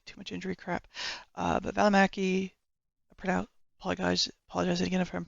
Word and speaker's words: Välimäki: I don't think it's actually pronounced Välimäki. It's like Välimäki. Like the emphasis on the syllables is different, so you'd have to ask him the correct way to pronounce it.